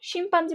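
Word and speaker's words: chimpanzee: আচ্ছা, তো এখানে দেখো শিম্পাঞ্জি বানানটা শিম, শিম, শ্যাম্পেন বানান, শিম, এরকম কিছু বানান আছে যেখানে এস এর মতো উচ্চারণ হয় বাট সিএইচ দিয়ে শুরু হয়।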